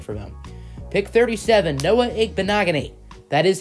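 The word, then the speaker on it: Igbinoghene: a good pick for them pick 37 no.18 bonaga Nate that is how you say his name by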